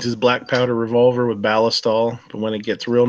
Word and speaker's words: Ballistol: Ballistol. I don't pronounce it that way. Yeah, I've heard people say, they pronounce it Ballistol. Like ballistic, right? Ballistol.